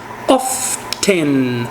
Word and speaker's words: often: mais comum é o often que também pode ser dito como often eu posso pronunciar o t ou não fica a seu critério